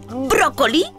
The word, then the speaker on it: brócoli: ejemplos de palabras estrujulas son brújula brújula o brócoli brócoli o también búfalo Búfalo también son muy